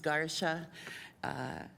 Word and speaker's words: Garcia: I know it looks like Garcia, but his name is pronounced Garsha.